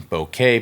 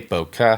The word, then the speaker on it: bokeh: into a subject isolation bouquet bokeh however you want to pronounce it whether you are